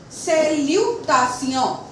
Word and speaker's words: salutation: If T-I-O-N come together, we are going to pronounce it as Sion. For example, salutation, salutation, félicitation, félicitation, attention, attention.